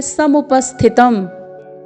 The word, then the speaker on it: समुपस्थितम्: फिर है समुपस्थितम, स, फिर म में ह्रस्व स्वर, फिर प है, फिर अर्धदंत्य स है, फिर थ में ह्रस्व स्वर है, फिर त है, फिर म है जिसमें हलंत लगा हुआ है। तो आपको इसका उच्चारण करना है दृष्ट्वेमं स्वजनम कृष्ण युयुत्सुम समुपस्थितम।